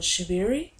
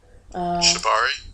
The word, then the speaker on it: shibari: I keep forgetting how to pronounce it, but shibiri. Shibari? That's the one.